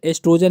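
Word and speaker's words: oestrogen: में सुजान निभाते है क्या ये साइलेंट होता है यहां पर एस्ट्रोजन ही पढ़ा जाता है ठीक है ओ नहीं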